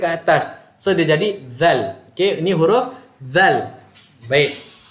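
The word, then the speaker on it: ذال: So dia jadi zal. Okey, ini huruf zal. Baik. Alhamdulillah. So huruf zal dalam ejaan tulisan Melayu dia adalah D-Z-A-L. Zal. Okey, keluarkan lidah sedikit sahaja. Zal.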